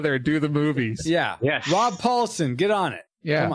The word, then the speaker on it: Rob Paulson: Rob Paulson, get on it.